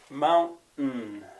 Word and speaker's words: mountain: spell it and and this apostrophe in my spelling system means a glottal stop it's not a vowel it's not a consonant you stop the sound with your throat mountain mountain uh you